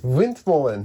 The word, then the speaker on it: windmolen: Windmolen? Windmolen.